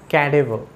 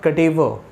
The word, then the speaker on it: cadaver: cadaver dead body so you need to say this word as cadaver not cadevo catevo very good let's proceed